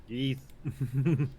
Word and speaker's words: Ys: It says Ys is pronounced Ys like geese, so Ys. So yeah, Yeeth.